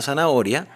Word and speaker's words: zanahoria: Cuando decimos zanahoria, se entiende que es una zanahoria, pero la pronunciación correcta sería zanahoria, con Z.